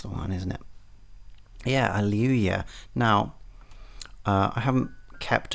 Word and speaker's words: Alewya: I believe aluya is how it should be pronounced, but there is a chance that I am wrong about that.